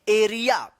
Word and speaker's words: area: AREA, इसको एरी नहीं, इसको क्या पढ़ेंगे? एरिया। क्या पढ़ेंगे? एरिया। इसको पढ़ते हैं एरिया।